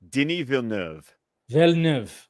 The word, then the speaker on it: Denis Villeneuve: And the fact that they announced Villeneuve, did I say it right? No, you didn't. Okay, say it. Denis Villeneuve. Okay. Villeneuve. There you go.